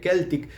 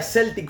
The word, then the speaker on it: Celtic: ejemplo, Tom Warriors de Keltic. Yo le decía Celtic Frost, pero se dice Keltic. Me parece bizarro decir Keltic, pero bueno, se pronuncia Keltic Frost.